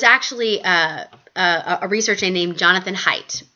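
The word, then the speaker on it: Haidt: a researcher named Jonathan height right there on on slide six H I H AI D T you pronounce it height and he's does some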